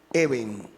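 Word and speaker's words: אבן: Esa palabra se lee Eben.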